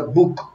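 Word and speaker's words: Bóg: En polaco se dice, bueno, se escribe Bog, ¿verdad? B-O-G, pero se pronuncia Buk, Buk.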